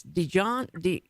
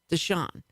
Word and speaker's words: Deshaun: And so I did the mustard, but now I keep pronouncing his name like the mustard. It's Dijon. How do you pronounce it? Deshaun. Mm-hmm. Okay, you make it more French. Deshaun. Okay, instead of the mustard.